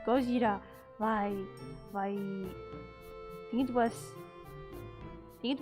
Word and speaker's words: Gojira: reunite here oh my Godzilla supposed to be Gojira oh yeah I have heard it burn and says Gojira why why it was it was Luna from